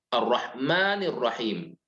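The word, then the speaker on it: الرحمن الرحيم: mendapati kata ar-rahman dan ar-rahim langsung bersambung dibacanya arrohmanirrohim ya tidak menggunakan data Wow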